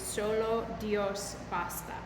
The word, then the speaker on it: solo Dios basta: little bit this morning so here's how to pronounce it nada T and then that last little phrase is solasta so you'll see the English translation but we're